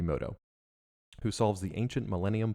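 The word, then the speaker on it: Mutou: Now, I think they say like Moto in the show for the Americanized, but it's spelled like M-U-T-O-U, so, like Yugi Moto, who solves the ancient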